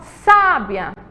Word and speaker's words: sábia: diferentes Sabiá E aí ó sábia sábia sa é a sílaba mais forte está acentuada certo então